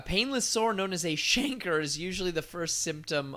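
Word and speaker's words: chancre: it's fun to say shanker because it rhymes with anchor and what i learned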